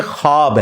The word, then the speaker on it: ख्वाब: शैतान नहीं आ सकता अच्छा ये लफ्ज लिखने में है ख्वाब ख व अलिफ बा लेकिन पढ़ने में यह खवाब है व साइलेंट हो जाता है ख्वाब पढ़ा जाता है यह लफ्ज उर्दू में